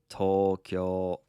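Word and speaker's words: 東京: it correctly tell me Tokyo Tokyo yep tolkill has two long vowels one on the toe and then another one on the kill and it's Tokyo um speaking of um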